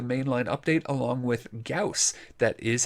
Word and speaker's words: Gauss: weapons with the main line update along with cows that is how it's pronounced do not trust space mom pronunciation we'll